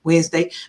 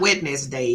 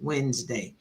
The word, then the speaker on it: Wednesday: Jango the word Jango the D is silent in Wednesday the D is silent it's not wedness day it's just Wednesday all right hello blackmail